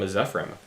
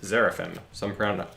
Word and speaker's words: Zephyrim: I am working on painting Terminator arms for the sake of my Dark Angel army, while Nick is painting some Zephyrim, sometimes pronounced Zeraphim, sometimes called Seraphim, sometimes called These Boys.